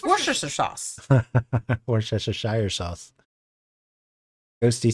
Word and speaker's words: Worcestershire: It's Worcestershire sauce. Worcestershire sauce. Ghosty says, yeah, I'd be deeply offended if you pronounced a word of a dead language wrong.